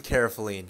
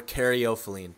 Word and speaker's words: caryophyllene: Get some caryophyllene or caryophyllene. It's pronounced different ways, but it's the main